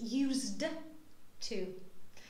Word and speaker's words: used to: next one it is used to okay this D is not pronounced that heavily as I do it